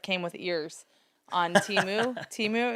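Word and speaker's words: Temu: Timu, is that how you say it? Yes.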